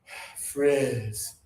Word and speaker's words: frizz: Their word is low tongue, breathe out, frizz.